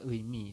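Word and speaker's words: 의미: Kemudian ini juga sama, ini adalah eisa, kemudian yang bawah ini adalah eimi seperti itu.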